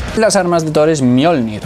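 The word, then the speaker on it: Mjölnir: Las armas de Thor es Mjolnir, o Mjolnir como dicen en la canción, ¿vale? Se escribe Mjolnir con esta J, porque que sepáis que en sueco, en las lenguas nórdicas, la J se pronuncia como una I, ¿vale?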